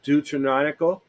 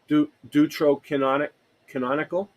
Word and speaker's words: Deuterocanonical: biblical canons, along with the, how do you pronounce that, Andy? The Deuterocanonical, Deuterocanonical, and extra biblical manuscripts, which preserve evidence of the diversity of religious thought in late Second Temple Judaism.